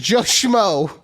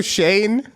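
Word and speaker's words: Schoen: Giants GM is Joo his name is Joe Shane but when she read it she was and but it's spelled s c h oen so when she saw it her brain diffused and it was just Joo easy six and 11 season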